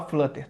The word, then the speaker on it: flutter: Se escreve flutter atrial, mas você fala flutter, tá?